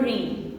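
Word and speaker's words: reign: ई आई जी एन यहां पे जो आपका ये जी है ये साइलेंट है आपने इसकी साउंड नहीं देनी है ये आर ई आई एन की साउंड देगा जी की साउंड नहीं देगा तो देखेगा कि आर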